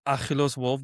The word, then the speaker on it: Akilos Wolf: So, um yeah, my name is Akilos Wolf. That's how you say it.